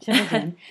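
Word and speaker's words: Tchividjian: Is that how Chavigian? It's called? Yep. Chavigian. Rhymes with religion, they say.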